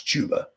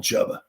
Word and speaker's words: Chuba: job to chubba har I think it's chuba I call him chubba I don't I don't know chubba hubard because it Rhymes then then the Panthers